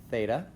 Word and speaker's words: theta: okay this is pronounced Theta it's the Greek th sound it's a circle with